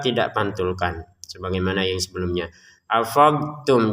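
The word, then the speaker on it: أَفَضْتُمْ: Afadtum. Jadi kita jangan juga dimasukkan ke ta sehingga menjadi afadtum. afadtum tetap kita harus mengucapkan ee cara pengucapan d yang benar dulu baru kita mengucapin t-nya.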